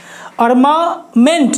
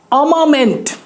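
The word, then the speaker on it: armament: अर्मामेंट नहीं, अमामेंट, जी हाँ, अमामेंट। आर जो है हमारा साइलेंट रहेगा, अमामेंट।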